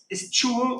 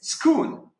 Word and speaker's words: school: Can you say stool, or how do you say it? Stool. No, it is school.